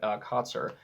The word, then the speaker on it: Kotsur: Kotsur, I think it's not Kotsur as I've pronounced it before, but Kotsur, which was awesome.